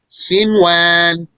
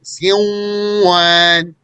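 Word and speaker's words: صنوان: Therefore, one says sinwan, pronouncing the noon clearly, despite that it has a sukoon and it's followed by a wow. Since they appeared in the same word, then there is no merger here. And ad-dunya. So had there been a merger, we would have said sinwan, and we would have said ad-dunya. But we don't say that. That's wrong, actually. Clearly pronouncing the noon in both cases.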